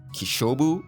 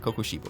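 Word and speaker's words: Kokushibo: trouble pronouncing his name I think I called him uh kishobu or something along that lines which sounds pretty good but I missed out the first KO so it's should be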